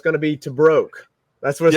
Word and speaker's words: Tebrake: I mean, it gets butchered all the time, so but it's Tebrake.